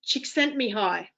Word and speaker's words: Csikszentmihalyi: And his name is Mihai Csikszentmihalyi. I know how to pronounce his name because someone once asked me